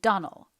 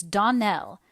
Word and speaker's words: Donnell: you pronounced our name Donal now Miss Shirley the correct pronunciation of our name is Donell Accent on the last syllable I hope you'll remember